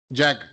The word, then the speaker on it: Jag: Jag, like Jaguar? Like Jaguar, yeah.